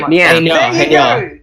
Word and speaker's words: Nya: Imagine an adorable anime cat is saying it. All right? Hey, Nya.